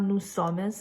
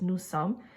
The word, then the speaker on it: nous sommes: Okay, again, please don't pronounce the S. It's not nous sommes, it's just nous sommes.